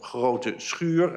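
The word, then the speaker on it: Groote Schuur: the hospital is called Grote Schuur. I mean, they pronounce it differently, but this is how it should be pronounced.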